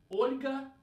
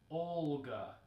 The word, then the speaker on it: Olga: So, Olga, not Olga, right? We need to make that soft L sound.